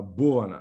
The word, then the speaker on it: Bhuvana: first syllable correct uh there's actually no stress that's the strange trick